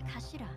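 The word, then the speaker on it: 頭: end of the hilt it's written as head in japanese but it's pronounced as kashira i believe so words really mean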